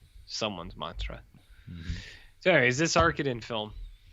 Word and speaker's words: Arkadin: __ ] about mr arkadin and i'm not going to say it arcadian because i think that is horseshit you know what i